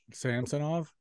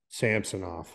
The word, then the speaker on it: Samsonov: The other goalie they got, Schnetstikov or Samsonov, Samsonov. Samsonov or whatever. Samsonov. Yeah. Yeah. I think these are going to be huge bounce back years. I think Samsonov is going to be the real deal.